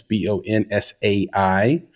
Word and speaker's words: bonsai: That's BONSAI. Some people like to spell it with a Z. That's incorrect. It's SAI, like the tree.